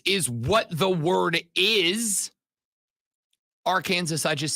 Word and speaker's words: Arkansas: it was said and then it metamorphosized into Arkansas I I heard some and I I don't know enough uh was it originally pronounced R Kansas I I we all have